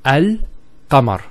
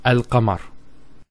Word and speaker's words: Al-Qamar: It's Al-Qamar. So Al-Qamar. So there's a sukoon there on top of the lam, and it's Al-Qamar. There's no issues with that.